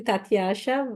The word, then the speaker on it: Tasha: how so excuse me first tasa am I pronouncing your name right or you can just please it's actually Tasha but it's okay Tasha Tasha Tasha is that right that's right so